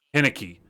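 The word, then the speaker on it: Heinicke: Henneke. I think if they'd have got to prepare the entire week with Henneke taking QB1 snaps instead of Fitzmagic, that could have played a difference. But Henneke played fine.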